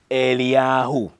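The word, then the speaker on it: אליהו: the reason why his name in Hebrew is pronounced eliyahu aliyahu means Yahweh is my God my God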